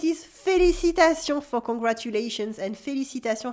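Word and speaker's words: félicitations: felicitation for congratulations and felicitation has a silent s at the end felicitas felicitation you can also say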